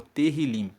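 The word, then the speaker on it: תהלים: no livro na Bíblia original são conhecidos como terim se escreve t e h i l i m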